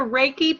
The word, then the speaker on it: Reiki: Put after Reiki, put in parentheses pronounced R-A-Y-K-E.